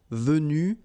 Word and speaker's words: venus: So basically you get the pronunciation venu, venu, venu, and then the same thing, venu, you don't pronounce this final Venu, you don't pronounce the final S.